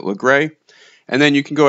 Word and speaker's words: Lagras: Fast travel over to LeGray or LaGrasse, depending on how you want to say it. I think from story mode, they pronounced it LeGray.